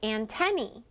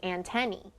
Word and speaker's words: antennae: insect body part is antennae so sometimes you might hear people call them antenna or antenae but the right way to say it is antenny can you all say